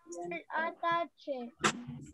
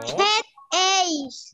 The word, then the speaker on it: headache: ¿Cómo se pronuncia esto? A ver, quiero escucharlos. Atache. No. Headache.